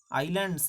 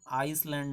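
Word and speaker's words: island: भी अपने क्या हैं आइलैंड्स हैं उनके नाम के साथ द का यूज होता है, ठीक है। इसका प्रोनाउंसिएशन आइसलैंड नहीं है, ध्यान देना, आइलैंड है, ठीक है।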